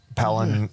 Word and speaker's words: Pelan: So what's what is your going to be your focus of palen hospitality? Yeah. Well pronounced not pan.